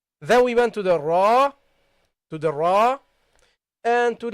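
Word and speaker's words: راء: when you talk about when we are talking about the name of the letter then we pronounce it heavily we say ra then we got the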